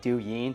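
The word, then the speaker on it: 抖音: I believe it's pronounced like du yin and they're doing 500 billion plus a year.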